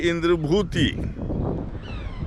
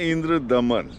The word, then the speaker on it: इंद्रभूति: तो वही टिमाती ग्रंथ के मुतालिखत नाम वाले इंद्रभूति इंद्रभूति लेकिन हम लोग जानते हैं इंद्र दमन इंद्र दमन देखिए सामान्य है दोनों नाम में फर्क है की थोड़ा सा दमन जो है मिस प्रोनाउंस है भुतही और वही